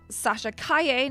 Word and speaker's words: Sasha Calle: address dark Jedi Knight's uh comments about uh Sasha Kaye now that we know that that's how you